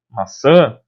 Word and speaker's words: maçã: Então, nesse caso, se eu não tivesse o tio e a pronúncia não fosse maçã, fosse maçá, por exemplo, deveria ter o acento agudo.